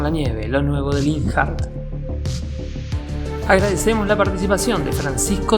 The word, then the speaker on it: Linhart: Con lo cual, en mi opinión, la pronunciación más correcta, aunque sea otra, sería Linhart.